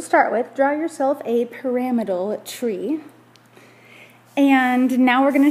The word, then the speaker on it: pyramidal: So this would be pronounced pyramidal.